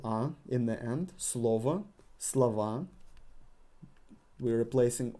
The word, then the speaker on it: слова: Слова. We're replacing O with A. And because we got emphasis on A and not on O, we're pronouncing O as A.